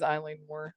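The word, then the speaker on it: Eilean Mòr: It is Eileen Moore.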